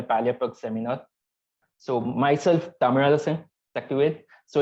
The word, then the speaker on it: Thamizharasan Sakthivel: So myself, Thamizharasan Sakthivel. So it's tough to pronounce.